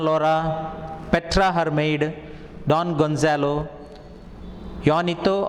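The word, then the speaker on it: Juanito: petra hermaid don gonzalo yonito or jonito yanita is usually the pronunciation his servant so two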